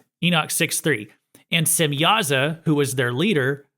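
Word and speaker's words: Semjaza: So, there's a J in there, but I believe the J is supposed to be pronounced like a Y, but um others might spell it more like Shemihaza or Simhaza. Simyaza is one of the watchers.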